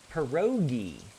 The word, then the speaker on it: pierogi: Not G, Gi. Pierogi.